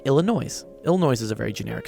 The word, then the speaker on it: Illinois: thought the s in Illinois it is Illinois the S is silent but they say Illinois